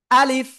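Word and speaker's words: ألف: তাকান সবাই সবাই সবাই রেডি আলিফ প্রথমে আ তারপরে লিফ তো শেষের দিকে এসে নিচের ঠোটের পেট উপরের দুই দাতের আগায় লাগাবেন লাগিয়ে কোন টান দিবেন না জাস্ট দ্রুত পড়ে ফেলবেন আলিফ আলিফ সবাই জোরে জোরে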